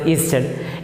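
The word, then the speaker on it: Ørsted: one man that is hands christian easter pronounced easter in 1820 he made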